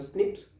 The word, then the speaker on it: SNP: is seen so right these snp is pronounced as a snips sn9ps okay and they of course